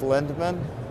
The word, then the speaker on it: Lindman: you to say your name real quick lindman I get you to spell it R o SS l i n d